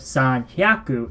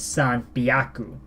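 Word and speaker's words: 三百: Instead of san hyaku, it's san byaku. So instead of he, it's bi.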